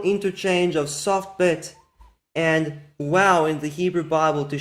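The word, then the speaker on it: וָו: So it is very clear that since the biblical time period, they used the w pronunciation of the vowel, because you can even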